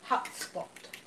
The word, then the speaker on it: hutspot: Shalimar says, my Dutch mother would call Sweden carrot mash hutspot. Hutspot. Cool. We probably said that wrong. Well, it's spelled H-U-T spot. Okay.